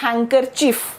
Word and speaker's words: handkerchief: Okay, इस शब्द में ये जो शब्द है इसका कोई भी साउंड नहीं है, तो फिर ये क्या बन गया? ये बन गया हैंकरचीफ।